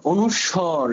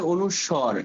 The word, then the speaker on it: অনুস্বর: দেখো আমরা দেখব যে অনুস্বর এটার উচ্চারণ হবে অনুস্বর অনুস্বার না অনুস্বর অনুস্বর দিয়ে শব্দ শিখবো এখানে